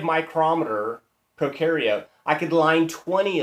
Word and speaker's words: micrometer: It's spelled micrometer, but we say micrometer.